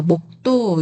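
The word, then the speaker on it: 몫도: 자, 마지막 목도. 이거는 뒤에 이응이 아니라 디귿이 왔어요. 디귿이 왔을 때는 받침이 넘어가서 소리 났지 않아요. 그런데 여기서는 기억 받침만 소리가 나고요. 시옷받침은 소리가 안 나요. 그래서 어 그냥 목도인데이 뒤에 있는 도가 좀 세게 발음이 돼요.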